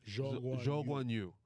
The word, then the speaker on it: Zhou Guanyu: How do you say his name, man? Zhou Guanyu. No, he's not French.